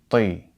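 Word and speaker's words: طِ: So the letter ta with a kesra would be pronounced ti, ti.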